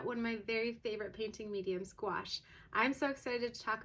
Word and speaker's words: gouache: It's called gouache. For a while, I was not sure if I was saying that word right, but it rhymes with squash, if that helps you remember.